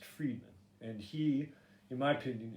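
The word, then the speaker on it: Fridman: you it's uh lex friedman it's spelled f-r-i-d-m-a-n but it's pronounced friedman and he in my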